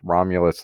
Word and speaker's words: Romulus: So that's how you pronounce that name. And then there's Romulus and Remus, who the video talks about as well as the reading.